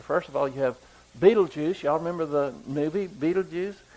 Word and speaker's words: Betelgeuse: First of all, you have Betelgeuse. Y'all remember the movie Betelgeuse? Some people pronounce this Bejelsey, but I like Betelgeuse.